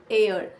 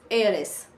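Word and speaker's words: heiress: एयर यानी वारिस, एयरेस, HS silent एयर.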